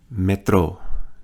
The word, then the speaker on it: metro: is going to be metro notice the accent on the final syllable train is notice